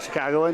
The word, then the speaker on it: Chicagoan: I do know of one Chicagoan, is that how you say it? Chicagoan, yeah.